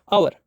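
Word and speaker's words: hour: H silent है ना, किस वर्ड में एच साइलेंट रहता है ना प्यारे बच्चों? आवर, आवर, ये एच साइलेंट रहता है।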